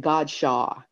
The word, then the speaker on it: Godchaux: They called it Godchaux in the South instead of Godchaux.